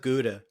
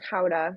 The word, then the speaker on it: Gouda: Guda. Guda. Guda. Yeah. Which isn't that pronounced some other way? I think it's pronounced koda if you're doing it.